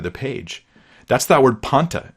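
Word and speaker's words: πάντα: That's that word panta. That's how it's pronounced, panta, in the Greek.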